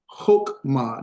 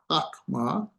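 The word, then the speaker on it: חָכְמָה: And that is not a hawk hawk. It's a hoke hookma not a hawkma. Hook because this is the o short o sound to it.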